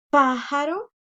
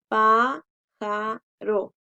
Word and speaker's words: pájaro: Otro ejemplo es en la palabra pájaro, porque no decimos pájaro, ¿verdad? Entonces, pájaro, pájaro. Última, penúltima, antepenúltima y va tildada.